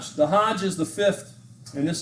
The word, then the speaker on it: Hajj: So is it Hajj or Haji? H-H-A-J or H-A-J? Hajj. Yeah. Haji, Haji would be like a person.